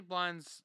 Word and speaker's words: Blind: our parents auburn daley blind's surname is pronounced like linda minus a then add b to the front blind oh that's boring